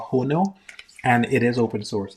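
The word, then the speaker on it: Hono: Cloudflare all of the stuff that uh Cloudflare has a platform called HON and it is open source. Yes. Um, h o n o. That's what I'm pronouncing a little weird.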